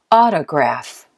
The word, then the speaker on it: autograph: the second syllable photographer let's try another one autograph autograph what do you think first second or third you said first right great you're right listen carefully number three